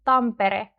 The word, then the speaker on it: Tampere: So that's why the R in Tampere sounds weaker.